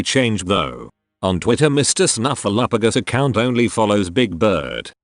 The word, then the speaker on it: Snuffleupagus: snuffleupagus account only follows Big Bird just like any good imaginary friend would do with Big Bird today I learned it's snuffleupagus and not snuffle a few ghosts is it still pronounced